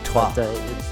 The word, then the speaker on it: Troyes: So it's spelt like Troy, like the ancient city with an E in it. Troyes. It's called Troyes, like the number 3 in French.